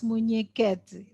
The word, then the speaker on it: Munhequete: that can be corrected actually you pronounce it well it's muneket carmen is a senior